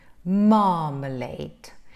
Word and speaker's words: marmalade: the open open mouth marmalade so here you see there are three syllables three syllables you stress the first syllable so this is the